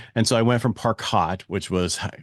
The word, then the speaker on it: Parcaut: And I went to Parcaut, and I got a lot of from that, but it's the French pronunciation of it.